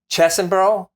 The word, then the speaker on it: Chesbrough: I'm going to mispronounce the name. Um Chesbrough, I think is is c h e s b r o u g h.